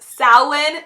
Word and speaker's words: Samhain: Now, it's pronounced Samhain.